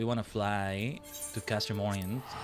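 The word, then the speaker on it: Oriens: Right, we want to fly to Castrum Orient. Right, because it's like a French sort of name, I think that S is silent.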